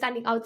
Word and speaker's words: ou: Okay, so je means I, tu means you, il or sorry, il ou elle, ou is what I pronounce this. It's this word, which means or.